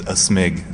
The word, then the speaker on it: aSmig: you could also say my name is a smig sort of like you're sneezing you know a snake